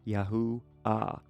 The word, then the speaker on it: Yahuah: In theophoric suffixes, the hey is sometimes dropped for grammar, but in the full name it appears, indicating the full pronunciation ends in a soft ah, Yahu ah.